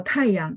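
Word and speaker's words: 太阳: Nah, tapi kalau tayang, dia biasanya yangnya dibaca nada 5. Ini yang menjawab pertanyaan teman-teman, kenapa sih ada nada 5 gitu ya. Tayang, dia bacanya nada 5, padahal sama ya. Aslinya nada 2.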